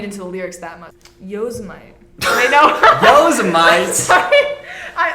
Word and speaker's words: Yosemite: It's like Walter Mitty.